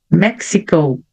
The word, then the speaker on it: Mexico: Então, China, England, France, Spain, Mexico. Então, a letra X vai ficar XI, Mexico, Argentina.